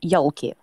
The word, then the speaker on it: Yolki: anyway today's movie is yucky or how do you pronounce that in Russia we also pronounce it yoky okay yeah the same